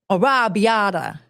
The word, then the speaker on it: arrabbiata: He said, arrabbiata.